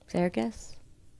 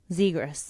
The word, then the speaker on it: Zegras: Zargis? Vargas? No. Isn't it with a Z? Zegras.